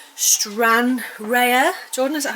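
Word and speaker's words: Stranraer: So, it is a static caravan we've got in Scotland in a place called Stran Rea. Jordan, is that how you say it? Strra. Strra.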